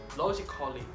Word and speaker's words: logically: The letter A can be silent, especially in words that end in A-L-L-Y. For example, romantically, romantically, musically, musically, logically, logically. So, cut the A out, get it off it.